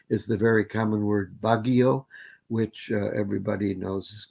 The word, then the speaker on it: Baguio: suffers from that is the very common word baggio which uh everybody knows is capital b capital is b a capital r i you capital s all right bagush for proto-austronesian but generally comes out as baguio with two it's by syllabic in most philippine